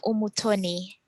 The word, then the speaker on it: Umutoni: So my name is Umutoni. Umutoni. It's a French name, and then my last name is Umutoni. So the U is pronounced U.